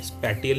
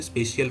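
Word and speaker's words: spatial: ये टी लगता है लेकिन इसको प्रोनाउंस ऐसे ही करते हैं, स्पैटियल नहीं बोलते, स्पेशियल फोर्स सिस्टम बोलते हैं।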